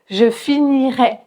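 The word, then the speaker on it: finirais: Pour le conditionnel présent, on va prononcer et un e ouvert. E, je finirai. D'accord ? Et pour le futur simple, on va prononcer un e fermé.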